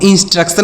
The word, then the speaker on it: instruction: सी से पढ़ेंगे क, और TION कहीं पर अगर आपको दिखे तो उसे आपको सन पढ़ना है। TION को सन पढ़ेंगे। इसे पढ़ेंगे इंस्ट्रक्शन पढ़ेंगे। इसे क्या पढ़ा जाएगा? इंस्ट्रक्शन। अब इंस्ट्रक्शन मतलब क्या होता है?